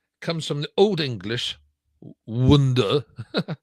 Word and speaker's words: wundor: But the word itself, wonder, comes from the Old English wonder. How do you pronounce that? Better to spell it. Wundor. And that's Old English. It would have been pronounced wonder.